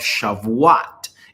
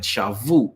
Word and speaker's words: Shavuot: The Moedim of Shavuot is going to happen. Shavut. Y'all can pronounce it how you want. Shavuot, Shavut.